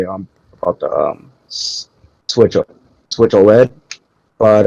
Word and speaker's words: OLED: Yeah, it's OLED.